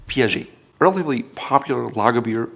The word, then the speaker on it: Piaget: If you're into watches, you've likely heard of Piaget. Piaget. It's not Piaget, you don't hear the T, it's Piaget.